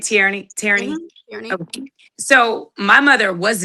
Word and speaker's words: Tierney: Tierney.